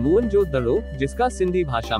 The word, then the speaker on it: मोहनजोदड़ो: में से एक था मोहनजोदड़ो शब्द का सही उच्चारण है मोहनजोदड़ो जिसका सिंधी भाषा में